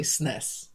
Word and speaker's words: SNES: I say SNES. It's SNES. one syllable.